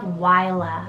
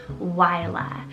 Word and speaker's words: Wyla: then for something a little different we have wyla it's called w-y-l-a yla and this one's a mix of scottish and